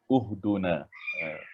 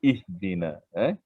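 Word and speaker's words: اهدنا: Uhduna. Tapi tiada perkataan uhduna sebab dari segi kaedah betul dah. Kalau jika dal itu baris hadapan tapi di sini dal berbaris bawah. Kasrah iaitu bawah. Jadi ihdina.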